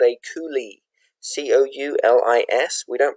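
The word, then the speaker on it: coulis: popular type of fruit sauce is called a coulee c-o-u-l-i-s we don't pronounce the yes a coulee so this is where you make a fruit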